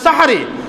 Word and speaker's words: সাহরি: জন্য যে সময় আমরা সাহারি খাই আমরা তো আবার অনেকে বলি সেহরি খাই আসলে সেহরি শব্দের অর্থ জাদু তো জাদু খেয়ে কোনদিন কি রোজা রাখা যায় যায় না উচ্চারণে ভুল যেটা আমাদের সেহরি শব্দের